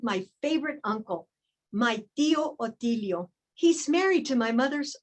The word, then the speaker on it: Otilio: It is totally phonetic, 6 letters. O-T-I-L-I-O. I'm going to teach you how to say it. Lesson 2, repeat after me. Otilio. Otilio. Easy, right?